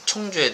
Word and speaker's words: 청주: 그래서 여러분들이 지금 청주에 대해서, 내가 발음이 안 돼. 충주가 아니고 청주예요, 청주.